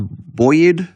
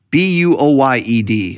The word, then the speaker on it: buoyed: you know that word is it pronounced Boyd Boyd b-u-o-y-e-d I don't mean like boy he seemed bullied he